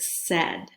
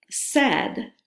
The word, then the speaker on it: said: The one word we're going to work on today is the word said. Said rhymes with a couple of different words. It rhymes with bed, it rhymes with head.